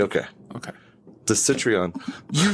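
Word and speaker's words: Citroën: is an ugly car I think it's pronounced Citron Citron yeah like citrus citr okay okay the citreon you're saying okay I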